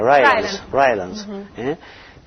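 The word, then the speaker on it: Rylands: En el año 1935 se descubrió el papiro Rylance, ¿cómo se pronuncia? Rylance, sobre el Evangelio de San Juan, que se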